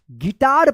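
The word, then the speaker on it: guitar: गिटार पढ़ेंगे। यहां पे जो है ना जी यू साइलेंट रहेगा।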